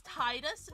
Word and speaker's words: Tidus: I think it's Tidus is how it's just pronounced because it's supposed to be like the tide because um if Final